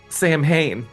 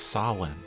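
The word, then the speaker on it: Samhain: he was dressed like Sam Hayne with a bag full of Halloween presents and everything I know this is a moment here but I don't want to be that guy but it's pronounced sawn mhm you know your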